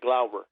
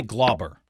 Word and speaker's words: Glauber: Yeah, Glauber. Glauber. You say Glauber.